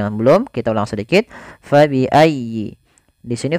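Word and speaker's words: فَبِأَيِّ: belum kita ulang sedikit fabiayyi di sini Fa harus dialirkan jangan sampai diganti dengan P jangan diganti dengan pabiayyi ahah jangan tapi kemudian dia bacanya dengan huruf F Fa fabiiayyi kemudian pfal ya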